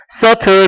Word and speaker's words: subtle: subtle b 발음 안 돼요.